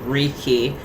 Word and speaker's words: reiki: So this is spelled w e i qi like space qi but then like but that's still like wiki but reiki like a ricky master but that's r e